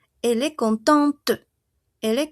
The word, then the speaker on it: contente: Entonces, si aquí il cont solo pronuncio hasta mi e n femenino, yo voy a pronunciar hasta mi t. Elle est contente. Elle est contente.